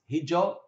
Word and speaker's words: hijau: Hijau, green, quite often pronounced hijau. The AU at the end of a word sometimes tends to an O sound.